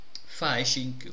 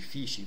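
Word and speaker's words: phishing: E qui potete leggere fasishing o fishing? Ehm, ecco, fishing. Credo che si pronunci fishing, forse ho detto sbagliato.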